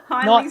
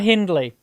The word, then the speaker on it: Hindley: Did I just catch your South Australian pronunciation of, is it Hindley Street Country Club? Yes, Hindley Street. Not Hindley. like I have been saying forever.